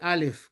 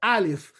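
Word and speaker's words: אלף: Alif no se dice alif como a en español, se dice alif. El sonido viene de la garganta.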